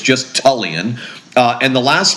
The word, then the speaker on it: Tullian Tchividjian: I was alive it was William Graham Turan chig and thank God she dropped the tur so it's just tulan uh and the last name chigan it's an